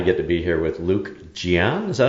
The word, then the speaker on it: Luke Jian: And I get to be here with Luke Jian.